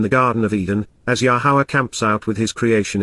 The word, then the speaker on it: Yahowah: Increasing and growing, being brought to meet the light, Kal imperfect active cohortative, 2, the mountain, of Yahowah, the proper pronunciation of Yahowah based upon his Torah, teaching regarding his higher